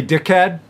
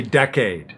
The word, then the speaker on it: decade: Be careful not to confuse decade and this here. Some people will say dickhead, but you don't want to say that. You want to say decade. The big decade, the big dickhead.